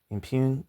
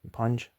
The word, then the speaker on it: impugn: Impugn. Impugned. That's what I thought. Impugn.